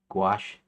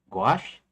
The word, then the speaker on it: gouache: I think it's gouache. It'll it'll it'll say it rhymes with squash or something, right? rhymes with squash or wash.